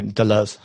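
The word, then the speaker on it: Deleuze: his name incorrect based Delo is that how do you pronounce his name yeah um yeah that's good enough you would say Delo but yeah it's fine okay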